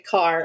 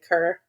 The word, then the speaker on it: Kerr: a for those listening there's a debate in Wilmington over a road that's spelled k r r and some people say car and some people say ker we I say Co says car go we agree to disagree back to the traffic cone